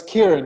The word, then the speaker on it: Kiaran: So please welcome Kiaran. Thank you very much, Eden. Did I Pleasure pronounce it to be right? here. Lucky your episode name. 126. Yeah, pretty close. Kiaran.